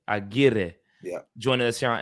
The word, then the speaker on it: Aguirre: Aguirre. Aguirre.